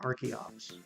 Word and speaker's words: Archeops: fine with changing like I was fine with changing arcan and archeops because you guys you guys convinced me you guys made a very good point about Arkin and archeop so why I shouldn't pronounce the h oh no I see